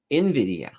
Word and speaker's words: Nvidia: let's see I think Jensen hang says it's pronounced Nvidia well there we go yeah I what did I say Nvidia I I don't know what I said but Nvidia for sure yeah it's definitely you know and